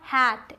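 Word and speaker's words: hate: Silent मतलब चुप है। तीसरा हैट एच ए टी हैट।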